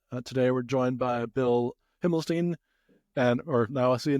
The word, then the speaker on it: Himmelstein: Today we're joined by Bill Himlstein and or now I see now I said my said your name the other way around. Himlstein. Um we had just talked about the pronunciation.